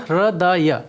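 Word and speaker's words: हृदय: In Sanskrit, heart is called hridaya. There are 3 syllables, hr, da, and ya.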